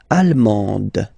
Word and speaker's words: allemande: L'Allemagne, allemand, allemande. Okay, same thing here. Okay, you don't pronounce the final D, but then you pronounce it here for the feminine form.